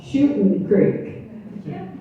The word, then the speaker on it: Shooting Creek: This is the reason this thrills my heart so much is because I realize that now I'm on Shooting Creek, and that is pronounced correctly with no G.